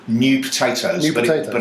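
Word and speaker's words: Neu Potatoes: New Potatoes. New Potatoes. But it's spelt in the German way, N-E-U.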